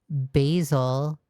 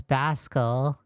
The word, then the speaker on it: Basil: You keep pronouncing basil as Baskel.